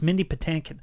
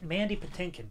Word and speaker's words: Mandy Patinkin: How do you say his name? I thought it was Mindy. I thought it was Patinkin. It's Mindy Patinkin. Mandy. Mandy Patinkin. Mandy Patinkin.